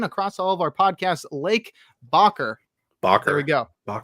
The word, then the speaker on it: Lake: It's Bakker, and also I've been calling him, and I've been calling him Luke. But the bro's name is Lake. Yeah. So issue a correction across all of our podcasts. Lake Bakker.